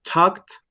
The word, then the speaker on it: talk: Cuando lo decimos, cuando lo pronunciamos, omitimos la L no suena.